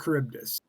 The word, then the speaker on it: Charybdis: That is Scylla and Charybdis. Charybdis.